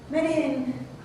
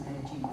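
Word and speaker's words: Medellín: And Medellin, I think it's pronounced Medellin, is it? I'm not a Spanish scholar, I'm sorry, but I heard it on the BBC as Medellin, so that's what I'll say.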